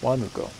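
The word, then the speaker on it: Huánuco: So, there's no H. It has an H. It's silent. If you pronounce it, they won't know the name that you're talking about. If you accent the second or third syllables, they're not going to understand what you're saying.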